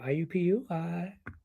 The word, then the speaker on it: IUPUI: Yeah, say it like that too. IUPUI, like that.